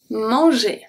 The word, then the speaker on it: manger: And the only letter that actually stays the same is M. So, A-N is pronounced as en, en, E-N. Same spelling as E-N. The G is turning into a soft G because it's followed by a E. J, j, mange. And then we have E-R that sounds like a E. Manger.